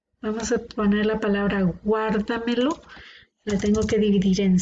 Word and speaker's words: guárdamelo: La sílaba tónica está una antes de la antepenúltima. Esta es última, penúltima, antepenúltima y esta es una antes de la antepenúltima. Por lo tanto, esta es una palabra sobreesdrújula.